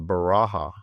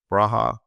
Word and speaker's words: Beracha: Also at the American Real Estate Society is the Baraha, which is hard to pronounce and even harder to spell, but it's BERACHA, Baraha and Johnson Housing Ranking Index, BERACHA Johnson Housing Price Index, ARES.